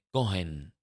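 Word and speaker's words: כהן: Para nosotros la H no se pronuncia, pero para ellos sí. mm, Cohen, ¿no?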